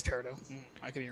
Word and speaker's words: peridot: 2 peridots. Peridots? How do you even pronounce that?